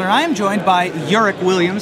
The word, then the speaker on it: Eric: your name correctly, because it looks like Eric, but it's pronounced Urick. Right. I have an accent and a U over the E, because my mom's freaky deaky Dutch. Ah. So it's pronounced Urick, but it's right. spelled like Eric.